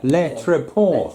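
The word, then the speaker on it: Le Tréport: Leitchport. Le Treport, as the froggies would say.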